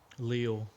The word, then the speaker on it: Lille: Got the Lily right. Lille.